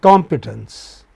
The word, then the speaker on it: competence: Similarly, competence. So com stands out compared with p and tens.